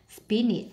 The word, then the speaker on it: spinach: Selection nhấn âm 2, vegetable nhấn âm 1, display nhấn âm 2, spinach nhấn âm 1, cucumber nhấn âm 1,